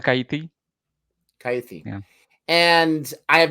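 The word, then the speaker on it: Kaithi: It's called Kaiti.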